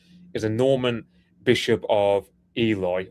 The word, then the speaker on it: Ely: a Norman bishop of Eli or Ellie however you pronounce it which is like Cambridge she where it meets where Cambridge meets East Anglia like Nor it's Elie I think is how you say it um metro I think